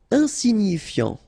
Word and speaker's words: insignifiant: Insignifiant. Okay, final T not pronounced, so you've got this IAN, ian, so F before, fiant. Insigni, okay, remember, G-N-I, ni, ni, insignifiant.